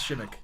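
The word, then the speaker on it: Przemek: It's spelled Persimek, but it's Shimmick.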